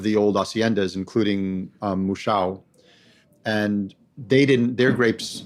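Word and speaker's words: Mouchão: how you pronounce it no it's Musha Musha Musha the wire is in front of the you Musha m o u c h a a with a tild o with a Tilda o now is the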